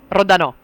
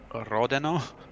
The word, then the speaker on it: Rodano: So the pronounce is Rodano. Rodano. Okay. Yes. Do I have to roll the R's? I'm just terrible with the R rolling. Rodano.